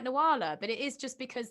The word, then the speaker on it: Nuala: you wouldn't think it with a name like nawala but it is just because there's yeah in ireland it's kind of semi-common but it's always pronounced noodle there you go wow that's uh that's amazing